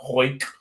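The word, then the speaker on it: Houck: Yeah, and it's Tanner Hoyk.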